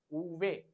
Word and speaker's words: uve: The pronunciation of V is uve.